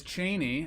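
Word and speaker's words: Chani: It is Cheney. And I know that for sure because I looked it up like 15 times. At least that's how Frank Herbert, the writer of the book, pronounced it in his audio book.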